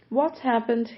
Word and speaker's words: What happened: o que aconteceu aqui What happened here e também você pode ouvir What happened here What happened here com esse T Do What não pronunciado What happened here o